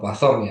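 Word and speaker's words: Poisson: Di sini tulisannya poison tapi dibacanya ee pasong ya.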